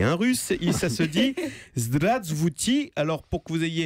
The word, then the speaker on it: Здравствуйте: Alors, j'ai cherché pour vous, si en sortant d'ici vous rencontriez un russe, ça se dit Zdravstvuyte. Alors, pour que vous ayez une parfaite connaissance, la bonne prononciation, attendez, j'ai isolé le mot sur internet et on va l'écouter ensemble.